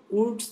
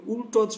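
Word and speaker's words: Wurtz: উডস বিক্রিয়া। এটাকে অনেকে দেখবা মানে যারা একটু বিকৃত উচ্চারণ করেন তারা এটাকে উল্টোজ বলে, ঠিক আছে, কি বলে? উল্টোজ বিক্রিয়া। কিন্তু মনে রাখবা শুদ্ধটা হচ্ছে আসলে উডস বিক্রিয়া।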